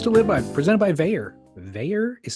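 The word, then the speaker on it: Vaer: tools to live by presented by Veer Veer is spelled v AE R of course veyor watches Chaz has his there I have mine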